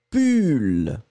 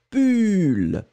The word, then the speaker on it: pull: Donc le premier, c'est U, pull, d'accord, que je n'ai pas, j'ai juste mon t-shirt, pull. Et le deuxième, eh bien, c'est poule, l'animal, ou, poule, pull, poule. Voilà.